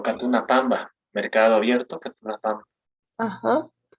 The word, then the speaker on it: pampa: se dice pamba. Perdón, se dice pamba como con una B, pero se escribe pampa.